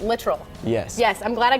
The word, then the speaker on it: Littrell: and he told you he corrected me on the way to pronounce it literal yes yes I'm glad